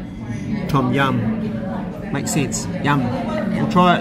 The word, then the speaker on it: tom yum: Tom Young, is that right? Tom Yum. Oh, Tom Yum. Like, I think Yum. Oh. Tom Yum, I think. Okay, so like Tom Young. No. Okay. No. Right. Tom Yum.